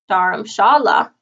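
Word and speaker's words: Dharamshala: top of the Indian Hindu City daram Shala daram Shala as it is pronounced in Hindi means spiritual dwelling combining the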